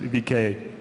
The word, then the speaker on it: VK: of the company is V contact sometimes uh pronounced on the west but the international brand is vka uh so we have 33 million daily unique